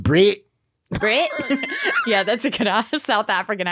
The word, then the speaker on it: Brett: Sturman drawing in about so I looked up Brett Murray and I I actually really liked his art the only thing I didn't like was there was this weird piece on him pronounced Brit Brit yeah that's a good South African accent